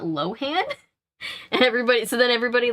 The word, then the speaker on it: Lohan: because they realized that we've been saying her name wrong because she said it Lindsay Lohan and everybody was like, Lohan, it's not Lohan?